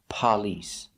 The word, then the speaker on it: police: like even with the first syllable emphasized but police and then there's even you get you'll even hear people say police blowing a candle we do not say police you're not blowing out a candle the word